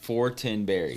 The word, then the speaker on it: Fortenberry: Oh, Fortinberry.